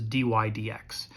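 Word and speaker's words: dy/dx: It's dy over dx, and we pronounce this dy dx.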